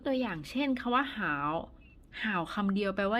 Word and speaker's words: 好: มา รวม กัน แล้ว อ่าน ว่า ห่าว ห่าว แปล ว่า ดี คน